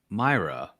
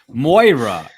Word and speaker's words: Moira: Mick taggart's first name Patrick Myra no Moira okay yeah at any